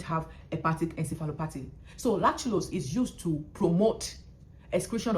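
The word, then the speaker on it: lactulose: Usually before I will call lulose as lulose but the right pronunciation is laculos.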